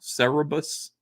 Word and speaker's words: Cerebus: Cerebus he was an aardvark right did I pronounce it wrong Cerebus I think I pronounced her right yes Melissa